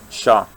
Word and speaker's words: chat: How do you pronounce Chat? Shah.